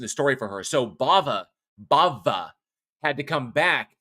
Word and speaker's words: Bava: pretty much cast I Bava Bava not Baba Bava anyway I'm saying it correctly um you're just giving